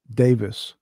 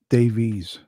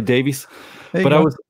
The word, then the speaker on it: Davies: It's like in the UK, it's pronounced Davis. Davis, okay. But in North America, it's pronounced Davies.